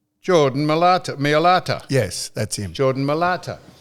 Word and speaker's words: Mailata: I can't pronounce his last name. Millet. Yeah, I knew it started with M. Jordan Mailata.